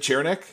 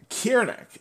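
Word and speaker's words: Ciernik: how to say it I assume it's cck nope I got you then is it cherick Alex kieric Kier neck the k sound of course Alex Kier neck uh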